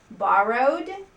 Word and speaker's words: borrowed: Borrowed sounds like a D at the end.